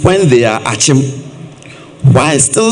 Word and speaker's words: Akyem: Why do we call them Akims when they are Akyem? Why still spell it Kibi when it is Kyebi?